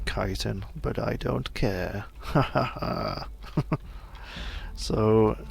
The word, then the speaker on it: chitin: strange and I realized I'm pronouncing chitin wrong it's actually kiten but I don't care